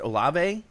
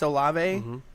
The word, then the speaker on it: Olave: Is it pronounced Olave? Yeah. Chris Olave and DK Metcalf and Tyler Lockett.